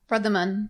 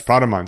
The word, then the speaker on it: Pradaman: okay the next one i may get this name wrong brothaman pradaman yeah that's pradaman so he lives in